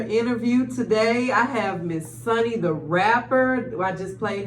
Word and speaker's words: Sunni: yourself Miss sun and tell us how to say your name too tell me I'm saying it right talk you're Sunny Sunny the rapper is what I'm known for but yes what's up